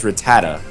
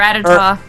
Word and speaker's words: Rattata: I don't say a I was going to say I one thing that took me forever to learn how to properly say was Rattata. Yeah, I used to call it Ratata.